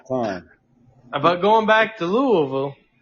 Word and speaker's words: Louisville: going back to Louisville oh is that how you say it down in the South Louisville it's Louisville no it's cool Louisville they're going back to Louisville no it's not Louisville man then uh there's not three syllables going back to that